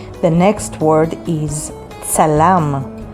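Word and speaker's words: צלם: The next word is tsalam. Tsalam means photographer, and it is spelled with the letters tsadi, lamed, mem sofit, tsalam.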